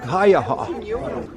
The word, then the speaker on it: Haiyaha: to be continued so the correct pronunciation of the lake is Lake haaha and it's obviously a Native American word um so that's lake haaha so here is the